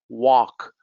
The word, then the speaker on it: walk: How about the L? Half, walk, could, salmon.